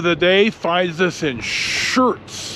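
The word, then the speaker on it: Schurz: day finds us in shirts I believe it's how it's pronounced s CH Ur TC and this is on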